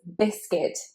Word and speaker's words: biscuit: But in fact, it is biscuit. You want to ignore the fact that there is a U in there.